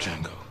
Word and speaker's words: Django: Django. You're Django. exactly the one I'm looking for. The J is silent.